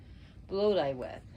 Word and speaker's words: Blodeuwedd: Bloduewedd. That's how she's pronounced.